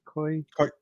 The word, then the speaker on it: Koyeb: I have, was it Koyabe? How do you pronounce that again? Koyeb.